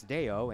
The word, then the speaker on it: Theo: If you look at the roster, his first name looks like Theo, but they said it's Deo, and H-A-L-U-T.